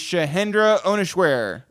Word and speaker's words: Shahendra Ohneswere: Today on the podcast is Shahendra Ohneswere. Great pronunciation.